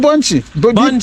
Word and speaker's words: Bbonchi: yeah how do you say this I am Bunchie b b o n c h i bun